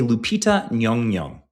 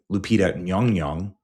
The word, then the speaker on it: Lupita Nyong'o: This is a Lupita Nyong'o. That's how you pronounce her name, and I hate that I just had to learn how to do that.